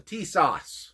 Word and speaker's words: Tisas: the tsis or some people call it the t- sauce which is actually how it's supposed to be pronounced sounds like uh a uh you know